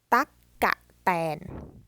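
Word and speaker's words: ตั๊กแตน: So that word reads ตั๊กกะแตน. Now you may wonder why there are 3 syllables instead of 2, because sometimes, now this is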